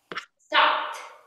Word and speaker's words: stopped: There are 3 different pronunciations for ed. Pronunciation number 1, d, d. Played, t, t. Stopped, id, id. Started.